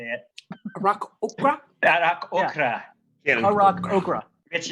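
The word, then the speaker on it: Aarakocra: Arak Okra.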